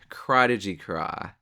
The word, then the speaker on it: Crawdigy Craw: This is kinda awkward, but I just finished this video and I realized that the lure is actually pronounced Crawdigy Craw, like a pun on Prodigy.